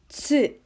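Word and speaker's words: つ: excuse me okay now do you think this is tu no this is actually tsu so this is another one there's no two in japanese it's instead so there are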